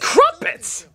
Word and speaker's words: Crumpets: Don't get me wrong, it's impressive, funny, and the Muppets are great, but it's friggin' Crumpets! So it rhymes with Muppet.